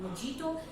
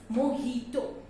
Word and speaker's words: mojito: And again, I've heard many people calling it as mojito. But again, the correct pronunciation of this word is not mojito, it's mojito. I repeat, the correct pronunciation of this word is mojito.